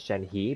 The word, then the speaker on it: Shenhe: now in early patches, people were saying her name was Shen Li with an L, and now it's actually, I think it's Shen He, H-E. So, I know some people are pronouncing it Shen He, but I think in Chinese it's He.